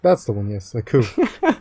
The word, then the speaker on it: coup: A coup. You don't pronounce the P.